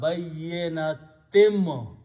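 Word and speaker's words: بَيِّنَاتٍ: a meme after that, in the tajweed, this noon is not pronounced, it is pronounced as a meme.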